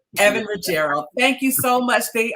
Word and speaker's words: Evan Ruggiero: Evan Ruggiero.